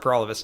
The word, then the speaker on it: Paralovos: my name is for all of us and that rhymes with for all of us and I'm the People's